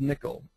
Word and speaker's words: N1QL: Um it's called Nickel uh N1QL and they pronounce it nickel.